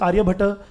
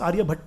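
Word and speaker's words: Aryabhata: aute scholar Scholars like Arya bat bascara we call usually mispronounced Arya bat but it is Arya B and two bascar or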